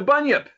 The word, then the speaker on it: bunyip: And I come up with, and I think I'm pronouncing it right, the Bunyip. The Bunyip.